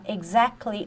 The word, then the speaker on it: exactly: Aqui, ó, exactly, o T você não pronuncia. Isso aqui é como se fosse... Não, deixa eu apagar. Exactly. Tá um som de G e Z.